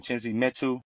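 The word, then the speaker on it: Chimezie Metu: Chimzi Metu.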